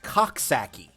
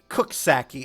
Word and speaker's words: Coxsackie: Like, New York has a town that's named, that it looks like it's supposed to be pronounced Coxsackie, but it's pronounced Cooksackie, and I'm just going, yeah, sure.